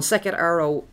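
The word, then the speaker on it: Sekhet-Aaru: And it was also known, Sekhet Aru means, Sekhet Aru, it's spelled S-E-K-H-E-T and then a hyphen and A-A-R-U.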